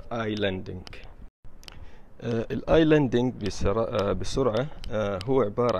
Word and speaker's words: islanding: طبعا الاس ما ينطق فيسمى اي لاندينج.